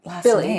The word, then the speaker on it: Bille: like how do you say her Billy yeah and then I and